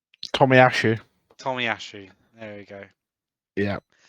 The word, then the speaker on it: Tomiyasu: How do you pronounce his name? Tomiyasu.